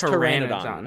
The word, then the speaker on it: Pteranodon: It's Pteranodon. Okay. Yeah, I am 20 years of age and had to Google the pronunciation for Pteranodon.